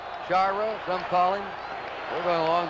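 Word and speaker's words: Sciarra: We've had some calls about the pronunciation of Shyra. We asked him yesterday and he said it's Shyra. Shyra.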